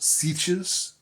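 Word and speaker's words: sietch: places like often caves and stuff they're called sees s i e t c h e no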